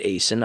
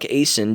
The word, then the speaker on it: Aisen: Mark Aisen, I'm going to pronounce it Aisen, I think that's it, A-I-S-E-N, was arrested near